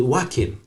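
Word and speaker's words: Joaquin: Phoenix no but it hin again you can't pronounce it wackin wackin Phoenix wackin wackin Phoenix Queen how I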